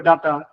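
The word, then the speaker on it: data: তুমি ডাটা এবং ডেটা দুইটাই বলতে পারো, কিন্তু এটার অ্যাকচুয়াল উচ্চারণ হচ্ছে এই যে ছোট্ট করে ই, ডেটা।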